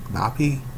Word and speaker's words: Napi: Napi? Yeah, Napi. That's how it's pronounced.